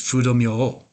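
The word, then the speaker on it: Fudō Myōō: One famous one is Fudo-myo. That's a Japanese pronunciation. That's what I'm most familiar with.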